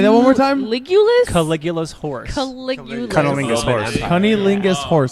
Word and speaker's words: Caligula's Horse: But I was, listening to a lot of Caligula's Horse and a lot of That's a band? Yeah, that's a band. Say that one more time. Caligula's Horse.